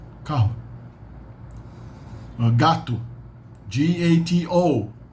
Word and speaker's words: gato: come got to g-a-t-o what's that's pronounced like g-a-t-u gato gato belly skin belly belly